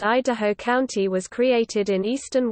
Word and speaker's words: Idaho: The word consists of three parts. The first is, e, which in English conveys the idea of coming down.